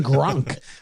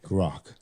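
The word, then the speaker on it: Grok: __ ] No, I see you saying grank. Like like Gronowski. That's I was like, what? Um, wait. G, spell that again. I'm sorry. The horse. G R O K. Grock.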